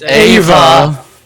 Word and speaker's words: Eva: why i fear okay is it eva or ava it's ava okay because i've heard eva actually like be pronounced in the past with that name huh like how you